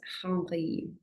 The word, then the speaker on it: Henri: Robert Henri, pronounced in French.